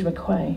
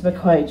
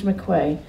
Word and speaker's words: McRae: pronounce its name but I think it's George mcclain it's it's McCray George McRae from a Taranaki town